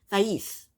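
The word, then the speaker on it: Thaís: Next is Patrick and how do you pronounce her name? Thais.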